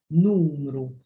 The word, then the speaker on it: numru: It's like there's a w, numru. It is not, it is not numru. It is not numru. It is numru. It's just like a w.